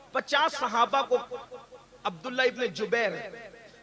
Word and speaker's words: جبیر: اس درے پر 50 صحابہ کو عبداللہ ابن جبیر, زبیر نہیں بلکہ جبیر, جیم سے جبیر, تھوڑا سا آج کل